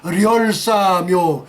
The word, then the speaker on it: 렬사묘: 인민군 영들의 렬사묘, 열사가 아니라 얘들은 리을을 받치면서 렬사묘, 뭐 이설주도 리설주, 그 리을 발음 넣었잖아요.